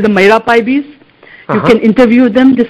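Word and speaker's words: Meira Paibis: Bina, can you spell that? Yeah, it's MEIRA, Maira, PAIBIS, Maira Paibis.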